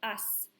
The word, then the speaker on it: haz: We couldn't leave it a C because then it would be pronounced ak, because C followed by nothing still makes the k sound. So in order to make it a s sound and save the sound of the word, hacer, we had to use a Z to spell it.